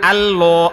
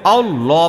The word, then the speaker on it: আল্লাহ: 100 হ্যা সাদিয়াল্লা আপনার উচ্চারণ আল্লাহ আল্লাহ এরকম হয়ে গেছে আল্লাহ প্রথম দিকে মোটা আল্লাহ বলেন না শোনেন শোনেন আপনারটা হচ্ছে আল্লাহ আল্লাহ এরকম হয় প্রথম থেকেই মোটা আল আল বলেন না